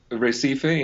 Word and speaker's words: Recife: We're going to be speaking about a phenomenal recording of the music of Miguel Kertsman, uh, Brazilian Recife. Am I pronouncing it correctly this time around? Recife in English, that sounds Recife.